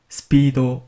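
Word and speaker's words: スピード: 스피드 스피도 람 단어입니다 정확한 악센트 는 악센트 의해 키 없는 스피도 입니다 주로 스피도 피해 악센트 핵을 넣어서 발음하는 경우가 많은데요 올바른 악 센터는 스피도 악센트 에 해킹이 없습니다 그럼 이번 클립은 여기까지입니다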